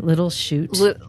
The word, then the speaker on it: Little Chute: I don't know why little shoots it's spelled s-h-u-t c-h-u-t-e Oh e okay little shoot like it's a shoot not s-h-o-o-t that would be just